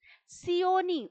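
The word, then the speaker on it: Seeonee: Sioni, উচ্চারণটা একটু খেয়াল করো তোমরা, Sioni Hills।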